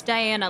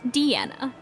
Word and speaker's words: Diana: It's Diana, like the princess, though. Not Deanna.